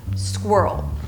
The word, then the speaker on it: squirrel: English, and that's because you have 3 consonants together, an R and an L. It's like almost impossible, and everything within the same syllable. Squirrel. But if you break it down, it might get easier. So let's begin with the middle of the word.